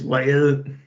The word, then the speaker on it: Vejle: In Norwegian, it's just Vejle, but in Danish, it's Vejle.